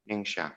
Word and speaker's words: Ningxia: How do I pronounce the name of the province? It's Ningxia? Ningxia? Yes. Ningxia.